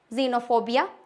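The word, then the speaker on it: xenophobia: sound देता है for example xylem second xylophone जेनोफोबिया कुछ-कुछ एक्सेप्शन होते हैं जैसे कि एक्सरे दूसरा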